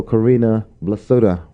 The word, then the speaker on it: Corrinna Blasutta: And we have also Corrinna Blasutta. Did I say it right? You said it right. Okay. I'm always nervous of mispronouncing names.